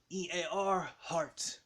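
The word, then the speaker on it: Earhart: air all the time you know but she it's spelled e a r but but guess what guess what that no guess what e a r heart so you is ear what do you do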